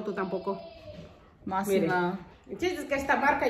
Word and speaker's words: Mossimo: Mossimo. Mossimen. No sabes pronunciarlo, tú tampoco. Mossimo.